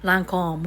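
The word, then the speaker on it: Lancôme: Basta, yung Lancome, actually, Lancome. Ganun ang pag-pronounce niya sa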